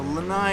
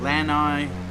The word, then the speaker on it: Lanai: So, Lai is over there or Lanai depending on how you pronounce it.